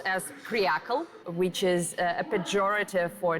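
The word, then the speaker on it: креакл: It's pronounced as kryakl, which is a pejorative for trendy-looking men and women who put their comfort above their country.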